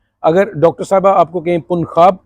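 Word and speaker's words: Punjab: जे जो है स्पेनिश में इसको हम कहते हैं खोता। तो इसकी जो प्रोनाउंसिएशन है, इसका जो तलफ़ुज़ है, इसका मखरज जो है वो खे का है। जीम चे हे खे, खे खरगोश। तो पुनखाब।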